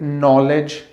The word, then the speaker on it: knowledge: जैसे नॉलेज, KNOWLEDGE, तो यहाँ पे हम के को प्रोनाउंस नहीं कर रहे हैं।